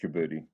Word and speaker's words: Djibouti: Somalia, Djibouti, is that how it's pronounced? Somaliland and northeastern province in Kenya that belong Yeah, it's just Djibouti.